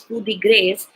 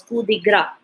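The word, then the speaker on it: coup de grâce: Okay then another word again with coup is coup de grace, and it is not as pronounced as coup de grace, it is pronounced as coup de gras.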